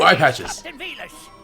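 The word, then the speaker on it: Villads: Captain Velas. The D is silent. There's a D. Arr! Wait, there's a silent R. Arr! Nar. Oh, okay, so it's just the silent D then.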